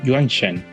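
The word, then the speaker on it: 原神: is very interesting because this chinese character of pronunciation is not genshin but juan chen and korean read this word as funchen oh so i was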